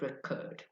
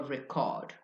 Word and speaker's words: record: For example, the word record or record. If you say record the stress on the first syllable, if you deliberately purposely stress the first syllable, it will be a noun.